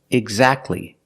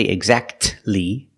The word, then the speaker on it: exactly: The T is silent when it's between consonants. Examples, exactly, Christmas. We see that T is between consonants, so we don't pronounce it. You don't say exactly, exactly.